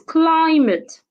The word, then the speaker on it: climate: and it's a noun another example is climate climate climate is a noun and it has two syllables so you should stress the first syllable another example is the